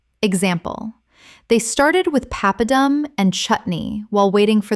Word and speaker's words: papadum: Papadum. Common mispronunciation. Pap-a-dum. Correct pronunciation. Papadum. Three syllables with the stress on the first. From Tamil. Example. They started with papadum and chutney while waiting